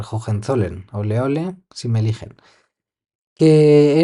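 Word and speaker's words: Hohenzollern: de Jen zollern que para que recordéis jogen zollern podéis pensar en que le llamaban en esa época Leopoldo de oleole si me eligen porque la gente no sabía pronunciar jogen zolen oleole si me eligen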